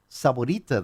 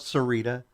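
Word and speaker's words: Sahuarita: Well, what blew me away is they pronounced Saborita the correct way. A lot of people call it Serita or or they give it a different name, but they actually pronounced it right.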